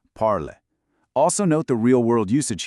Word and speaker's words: parles: But, remember our silent s rule. You just say parles.